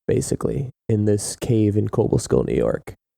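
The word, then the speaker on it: Cobleskill: in this cave in cobal Skill New York is it actually pronounced cobal skill or is it Cobble skill I mean there's only one b in it right Cobble it's cobl e so I don't say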